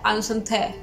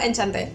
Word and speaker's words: Enchanté: Que por cierto, busqué en el traductor y supuestamente se pronuncia Enchanté o algo así. Pero le vamos a seguir diciendo Enchanté.